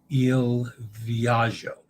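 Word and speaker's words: Il Viaggio: copy the cruise clowns You mispronounce GGI as Z okay ill viagio all right I'll try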